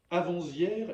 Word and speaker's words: avant-hier: va franco par exemple avant-hier et avant-hier sont des fautes grossières dites avant hier sans prononcer le T j'ai à couru tout